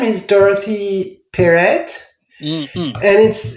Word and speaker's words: Dorothee Perret: Well, I started it by saying Dope Press because my name is Dorothee Perret. Mm-hmm. And it's the two. In French, you say Dorothee Perret, and so it was